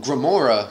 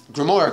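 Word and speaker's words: Grimoire: like you know Oh Remora card or that I mean oh that's how you say it greh more card unlocked right and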